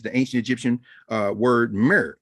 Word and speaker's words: mir: ancient egyptian uh word mir m r we pronounced it with like mirror because we put an e in because we know where